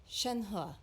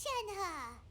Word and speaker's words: Shenhe: Shenhe. Shenhe. Shenhe. Shenhe? Shenhe. Shenhe. Yeah, I was pronouncing that completely wrong. Oh dear. Shenhe. My name. Oh, so your name's Shenhe.